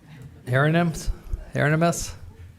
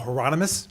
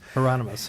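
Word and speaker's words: Heronimus: Uh uh uh herinus. Did I say it right? Uh Thank you very much. And uh yeah, you wouldn't be the first person to mispronounce my name. It's Heronmus. Heronomous.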